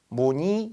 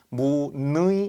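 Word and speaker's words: 무늬: 두 번째 글자이긴 하지만 이게 초성이 자음이기 때문에 의를 반드시 이로 발음한다. 무니 이렇게 발음하는 거지. 무의이 이렇게 하지는 않죠.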